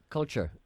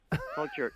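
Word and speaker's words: kultur: start again it's www k-u-l-t -u-r .com culture culture yes the way we spell it but it's brilliant it's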